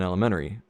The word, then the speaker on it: elementary: And somebody pointed out to me that I don't pronounce the T in elementary unless I particularly do it.